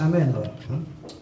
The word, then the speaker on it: Amon-Ra: Il y a un papyrus égyptien qui dit, en faisant parler le dieu Amon-Ra, qu'on prononce Amen-Ra, en réalité.